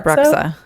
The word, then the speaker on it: Bruxa: It's a Bruxa.